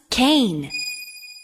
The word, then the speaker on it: cane: C A N is can but with a silent e at the end it becomes cane.